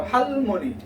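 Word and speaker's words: 할머니: So here, in the syllable, real is found in the last part of the syllable, so that's going to sound as what? L. Next syllable is mo. That's mi plus the vowel o. So you have hal mo. Okay, let's follow the rhyming. Okay, hal mo ni n plus the e sound. So harmony.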